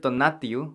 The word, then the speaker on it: tonatiuh: spelling okay we have the center word tonatiuh which means sun water gets pronounced tonati however if the wasteka